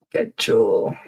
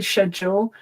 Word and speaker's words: schedule: So I say schedule. However, this is one of these words that um I think with the you know in England we watch so much American television there's bit more crossover. So you quite often hear British people say schedule as well. So I think either one schedule or schedule is common in England while I'm pretty sure schedule is dominant in the United States.